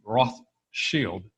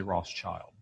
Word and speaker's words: Rothschild: now the thing is we in the West non-germans we butcher the pronounce of pronunciation of this contraction it really should be roth shield but we say Rothschild and that's what I'm